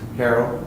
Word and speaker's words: Harold: life together absolutely your last name is pronounced harold harold just like it looks okay and angie your